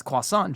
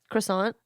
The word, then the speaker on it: croissant: Croissant. Croissant. But like we put the T on the end of it.